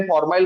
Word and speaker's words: formyl: ध्यान में रखना, कभी कभी मैं बोलते टाइम फॉर्माइल बोलूंगा तो कभी कभी फॉर्मिल बोलूंगा, ठीक है। तो don't get confuse over it, फॉर्माइल एंड फॉर्मिल।